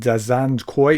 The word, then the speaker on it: Zhankoy: Zhankoy is Zhankoy, if I understand correctly.